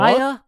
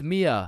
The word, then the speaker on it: Mia: Maya? Is Maya present? It's Mia. Wow, quite the name you got there. It's spelled kind of weird, no? No, it's not. It's literally 3 letters.